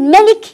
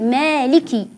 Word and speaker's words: مالك: بالكسر مالك يوم الدين فالبعض يقول مالك يوم الدين والبعض يقول ملك يوم الدين وهذا ايضا غير صحيح والصواب قلنا بالامس ان نقول مالك مالك يوم الدين اقرا الالف الذي بعد الميم وايضا اكسر حرف الكاف عليه علامه الكسره مالك مالك بهذه الطريقه كما قلنا